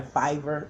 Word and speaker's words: Fiverr: count link I apologize my Fiverr account I just learned that that's the proper way to pronounce it I am overcoming a